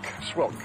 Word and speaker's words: Schwilk: Rhymes with milk. Schwilk. Schwilk. Yeah, I said Schwink.